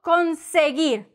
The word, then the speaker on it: conseguir: ¿Dónde puedo conseguir? Con like a con artist, con, seguir, no weir, ¿ok? ¿Entendiste? No weir. Si dices weir, te doy una en la mano, pum, pum, pum. ¿Dónde puedo conseguir?